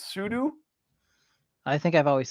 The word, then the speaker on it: sudo: Like I always call it, like, you know, when you up your user right, I always called it sudo, but apparently it's sudo.